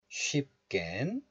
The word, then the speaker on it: 쉽: So the final consonant of this letter is PU, P sound. And it is followed by the first consonant of the next letter, 기역. So, syllable closure occurs. So this letter is pronounced as 쉽.